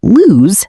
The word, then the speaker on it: lose: Loose has a longer, softer S sound, while lose has a Z sound at the end.